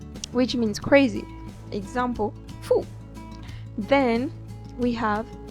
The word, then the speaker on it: fou: O, U give us who, like in food. Example, fou, which means crazy. Example, fou.